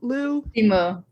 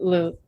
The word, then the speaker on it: Liu: He grew up in Canada, so I think he has a slightly different pronunciation. Yeah, I don't know what that's about.